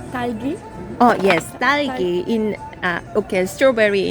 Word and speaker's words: 딸기: at first I keep saying like talgi, and then my friend like it's not talgi, it's talgi. I don't really know how to pronounce it. 딸기. Talgi. 딸기.